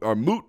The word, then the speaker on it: moot: i think is a mute discussion it is is a moot point i believe is how you say those things a moot point there's